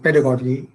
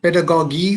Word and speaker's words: pedagogy: know how to pronounce i think you pronounce it pedagogy or pedagogy you'll have to correct me whichever way i would go i think i would go with goji as in logi and okay so it's pedagogy technology i i that